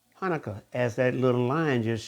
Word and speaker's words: Hanukkah: it's also it's pronounced Hanukkah and and it can be spelled a different way but pronounced the same now this picture it